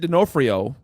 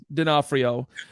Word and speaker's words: D'Onofrio: In other Marvel news, Vincent D'Onofrio, if I pronounced that properly, No, which I didn't. D'Onofrio.